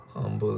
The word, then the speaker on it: Humble: Remember how I told you that the H in my town, Humble, is silent?